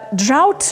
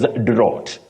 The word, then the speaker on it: drought: which is which will the most common mispronunciation locally is Dr Dr many people find themselves saying that but that is wrong that word has what we call the dong ow ow that is a glide on two vowel sound you